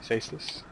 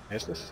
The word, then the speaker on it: Caestus: and get our first Caestus. Caestus? What am I saying? Caestus. Caestus? I'm pretty sure it's like a soft C sound.